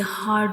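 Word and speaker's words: حاء: It is a throat letter, and it is pronounced from the middle of the throat. And when we read ha, the sound spills out like ha.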